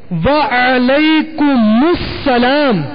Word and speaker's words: وعلیکم السلام: والا سن لے۔ سلام کا جواب کا درست تلفظ یاد فرما لیجیے، السلام علیکم، السلام علیکم، وعلیکم السلام، السلام علیکم ورحمۃ اللہ وبرکاتہ، وبرکاتہ، وعلیکم السلام